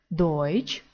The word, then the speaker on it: Deutsch: мій швацшуле Шон ч Дойч пам'ятаємо і у читаємо як ой Deutschland а в цьому